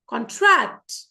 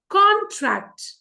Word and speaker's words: contract: Okay, like it's contract. Okay, you just listen to the variation in my tone. Okay, again, contract, noun, contract, pasana.